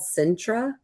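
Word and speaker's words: Sintra: Um it's called Centra. It's spelled s i n t r a.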